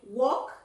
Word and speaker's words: walk: Friend, library, walk. Esa L no se pronuncia walk, walk.